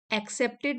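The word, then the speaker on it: accepted: राक्षस असुर राक्षस भी एक्सेप्टेड मींस स्वीकारते थे ए डबल सी जहां पर आता है उसको हम बोलते हैं एक क यहां पर प्रोनाउंस होता है एक्सेप्टेड सो यहां तक कि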